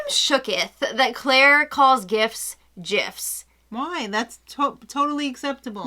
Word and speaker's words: GIF: shooketh that claire calls gifts gifs why that's totally acceptable no it's not it's a gif it's a hard g i've heard both from